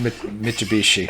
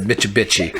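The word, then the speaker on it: Mitsubishi: was a dispatcher who always mispronounced mitubishi and he always said MIT bichi and I would go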